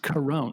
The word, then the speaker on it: Carone: And I found out her name is pronounced Corona, just like coronavirus.